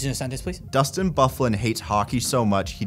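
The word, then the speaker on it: Byfuglien: Bufflin. Now you were talking my speed. Bifuglian is how it should be pronounced.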